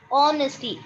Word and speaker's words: honesty: i told you right h is silent what is it honesty oh honesty honesty is